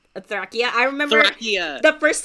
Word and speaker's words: Thracia: Or when you pronounce Thracia, you say Thrakia.